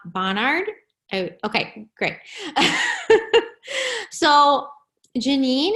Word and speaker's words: Bonhard: Bonhard.